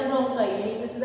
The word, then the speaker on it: bronchi: तो उसे जब से 2 साइड्स डिवाइड हो जाती है तो इसे हम क्या बोलते हैं, ब्रोंकाई। ब्रोंकाई के स्पेलिंग क्या है, BRONCHI।